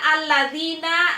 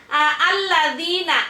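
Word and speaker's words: الذين: Kan alif lam berjumpa dengan lam, maka alif lamnya ini dileburkan terhadap lam yang berikutnya. Jadi masuk. Maka alif lam dibacanya tidak jelas.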